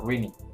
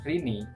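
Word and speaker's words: Rene: Karakter utama di dalam game ini adalah seorang gadis yang bernama Rini. Gimana sih pronounce-nya? R-E-N-E, bacanya Rini kan, bener kan?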